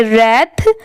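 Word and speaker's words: wrath: own anger and रथ आर डब्लू आर ए टी एच यहां पर W silent है तो इसको हम लोग पढ़ेंगे रथ सम टाइम्स एस ओ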